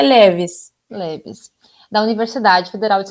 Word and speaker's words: LEVIS: LEVIS ou LEVIS? Como é que pronuncia? A gente pronuncia LEVIS.